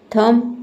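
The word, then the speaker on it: thumb: Climb होता है क्योंकि बी के पहले एम है इसलिए यहां पे बी लेटर साइलेंट है। थंब थंब नहीं होता है।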